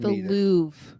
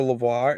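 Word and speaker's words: Louvre: a v yes but you don't pronounce the r e yeah the L the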